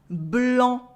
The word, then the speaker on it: blanc: Blanc, en with the silent C.